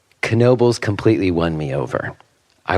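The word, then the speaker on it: Knoebels: have no idea and that is how it's pronounced kenoby spelled k n o e b LS kobal and I'm not pronouncing it wrong but I have to say kenoby completely won me over I woke up in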